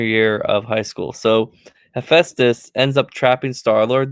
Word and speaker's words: Hephaestus: But Star Lord ends up getting trapped by I can't pronounce this. Hephaestus? Did I say that You're right? right. You're correct. Hephaestus.